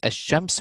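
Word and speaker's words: الشمس: So what happens in ash-shams, we do not pronounce the lam.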